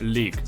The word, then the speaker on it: League: від Adidas лінійки Predator які звуться лік Саме так читається слово ось це ось League виглядають вони звичайно бомбезно